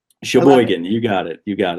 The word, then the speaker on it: Sheboygan: Sheboygan, you got it.